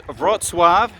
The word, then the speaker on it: Wrocław: uh more difficult so i'm now heading towards rotswab w-r-o-c-l-a-w and they've got an event the caravanning